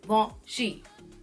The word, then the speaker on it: Givenchy: bring it back and it is g1 shi-jiiy won't she it's not good in Chi its Sheen all